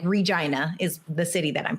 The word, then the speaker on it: Regina: I'm from the prairie in Regina, Saskatchewan, Canada. Right. And the prairie, like Regina is the city that I'm from. The slogan is the city that rhymes with fun.